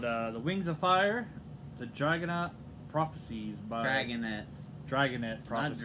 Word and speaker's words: Dragonet: Today we're going to talk about a great book called The Wings of Fire, The Dragonet Prophecies by... Drangonet Prophecies. Not Dragonite. I could never pronounce it right.